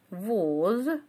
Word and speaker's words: воз: Шестое слово воз. Слово воз с буквой С на конце нет, да, есть только приставка такая. А поскольку «з» оглушается у нас, поэтому в транскрипции мы пишем звук «с».